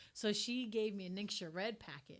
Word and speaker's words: NingXia: she gave me a ningxia red package right next to red you're like i used to actually pronounce it ninja because that's what it looks like what you feel like